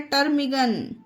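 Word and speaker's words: ptarmigan: उसी तरह से ये है टर्मिगन, ये देखिए टर्मिगन, ठीक है गाइस, इसे पढ़ते हैं टर्मिगन।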